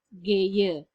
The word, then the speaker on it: gehe: Di sini menjadi geye. Tulisannya memang gehe, tetapi dibacanya adalah geye.